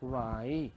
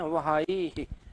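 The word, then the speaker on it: why: लेकिन कई बार क्या बोलते हैं बच्चे लोग, बोलते हैं वहाई है, वह है, वह है ना, हा बोलना ही नहीं है, कैसा है साइलेंट है।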